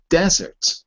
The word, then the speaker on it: desert: Because the other thing is a desert, which is spelled with one S.